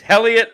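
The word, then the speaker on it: Heliot: No, H is just silent. Oh, the It's H kind is of like silent. Okay. kind of like you like those H's. Helliot Ramos, Helliot Ramos, and Sean Jelly.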